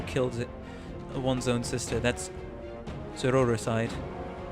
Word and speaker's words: sororicide: Okay, so it's Soroside. Is it Soroside? Sorori side. How is it pronounced, bro? Soror means sister. Sororicide.